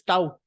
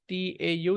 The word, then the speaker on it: Tau: mention this difference between these symbols this is Tau it is pronounced as t-a-u this is Tau and this is T simply